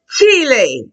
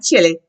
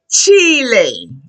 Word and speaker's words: Chile: The next country that speaks Spanish is going to be Chile. Not Chile. Chile.